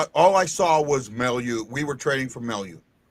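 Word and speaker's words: Mailloux: Malalu? Mailute. Logan Mailute. Huh? Logan Mailute. Mailute. Okay. Mail you. Like mail you. Like mail you. And you.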